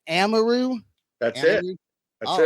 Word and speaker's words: Amaru: areu how am areu it's a lot of say amaru or Amaro or um I'm like man it's like it's amaru like you know I know I said it right right so you were